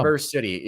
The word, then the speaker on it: Traverse City: Is it Traverse or that's how you pronounce perfect. it? Yeah, that's perfect. Good job. Traverse City in northern Michigan, I believe.